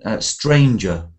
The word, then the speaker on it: stranger: So let's go to 13, stranger. Let's try that. Can you remember that one? Stranger. Yes. Try 13 for me, please. Stranger does not rhyme with anger.